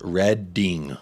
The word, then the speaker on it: Reading: Jacob okay reading Al PES Patel Jacob it's pronounced reding reading all right I got it I got